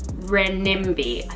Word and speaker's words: renminbi: was all it was between 750 and 10 renminbi and that's how you say it so it's